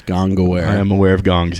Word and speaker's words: Gongaware: You can follow Max Gongaware on Twitter at Max Gongaware, which is spelled gong, like the bell, and then aware, like you understand that it exists. Gongaware.